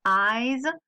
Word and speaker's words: eyes: gold maul eyes alors attention à la prononciation de eyes un qui se prononcer que son ail et pas à la fille au milieu elle a des grands